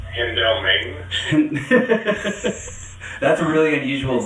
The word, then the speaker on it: Hendelman: Well, firstly, you're mispronouncing Saar's last name. It's Hendelman.